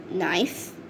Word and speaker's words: knife: sunning herself the silent the letter k is is silent in these birds nose knit knee knob knocks nails knife knife the girl knows